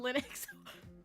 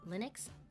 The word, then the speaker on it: Linux: No MS pain on Linux. Wait, really? Doctor, turn off the cringe inhibitors. Nah. Nah. Let it go free. full blast. I don't know anything about Linux.